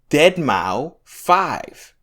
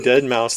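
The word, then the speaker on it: deadmau5: But did you hear Deadmau 5?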